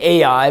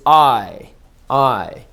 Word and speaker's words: Ai: with jericho and then we say a.i but that's really not the right way to say it it's i i in genesis when abraham